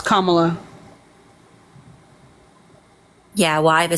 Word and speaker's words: Kamala: know that Kamala is Indian and Jama it's Kamala yeah well I have a speech impediment so